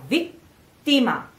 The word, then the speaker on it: vittima: So now we have vittima. Careful with the pronunciation of the E, because it's very straight, you know? It's not E, vittima. It's not this kind of E.